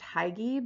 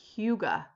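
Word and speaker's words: hygge: a danish practice um i used to think it was pronounced higgy but it's it's huga huga it's spelled h-y-g-g-e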